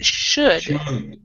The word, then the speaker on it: should: instead instead should it's should the L is silent and this this is